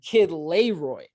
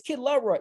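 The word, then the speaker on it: Kid LAROI: bait them to comment I literally just said kid Leroy right like I purposely mispronounced it because I know that when I do that I'm gonna get a bunch of people in the comment section going kid Leroy kid Leroy it's kid love Roy you know and it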